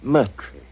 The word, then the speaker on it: Moriarty: I'm afraid I'll have to begin calling it the way it looks. M-O-R-I-A-R-T-Y.